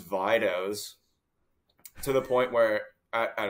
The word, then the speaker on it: Vidos: it too like obviously it's supposed to be Vito I think is the Italian yeah like Nick's Nicks that opinion sort of thing but uh We spelled we chose the dispelling that um everyone pronounces Vitos to the point where